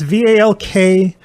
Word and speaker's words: Valkyria: Val, I don't know how you pronounce it. Valkyria Chronicles. It's Valkyria.